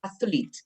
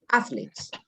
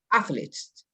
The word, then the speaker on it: athletes: No, maybe it's not, sorry, Nicole, it's not athletes, it's athletes. No, athletes. Yeah, the stress is on the first A, athletes.